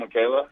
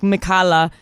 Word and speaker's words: Mikala: And the way it's spelled, a lot of people can't figure out that it's Mikala. A lot of times they say like Mikala or something.